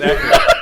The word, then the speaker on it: Eckhardt: one was Eckert. It's Eckert.